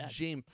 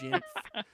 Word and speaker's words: Jamf: I don't think it's Jamf. It's Jamf.